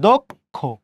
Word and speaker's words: দক্ষ: দেখেন তো একটু, এখানে এই অ এর পরে কি একটা ক্ষিয় আছে না, দশটাতে অ আছে না, ওই জন্য এখানকার দশটাতে আমরা এখানকার অটা কি করেছি? ওকার দিয়েছি। দয়কারে দো ক দক্ষ।